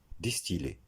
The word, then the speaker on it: distiller: Douzième mot, distiller. Il ne faut pas confondre la prononciation de ce verbe avec d'autres verbes comme griller, briller, etc.